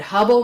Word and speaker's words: Hubble: Like I said, Hubble rhymes with trouble, and to my mind, Ray Ellen was anything but wonderful.